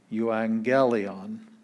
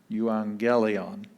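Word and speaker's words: εὐαγγέλιον: have two gammas the first one sounds like an n and the second one is the g sound so uh you angelion you angelion and then we have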